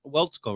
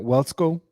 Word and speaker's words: Waletzko: Matt Waletzko, right? Did I say his name right? I think that's how you say it, Matt Waletzko.